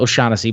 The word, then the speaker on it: O'Shaughnessy: O'Shaughnessy, but I know I said it right this time.